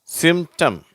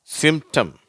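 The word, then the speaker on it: symptom: மாதிரி வந்திருக்கு பார்த்தியா பார்த்தீங்களா அப்ப இதை நம்ம எப்படி உச்சரிக்கிறோம் டெம்ட் அந்த பி என்ற உச்சரிப்பு வரதில்லை அட்டெம்ட் சிம்டம் ஓகேவா டெம்ட் அட்டெம்ட் சிம்டம் அடுத்தது பாருங்க எஸ் சி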